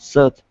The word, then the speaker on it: shirt: So let's practice the SH sound. All right. The word is shirts. Shirt. Okay. One more time. Shirts. Shirt. Okay. Almost. Almost. Now, what you're saying is a s, okay?